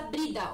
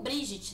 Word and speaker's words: Brigid: as estações, a lua, a deusa Brida, ou Brigitte, né? Ou Brigid, né? Também como pode ser a pronúncia.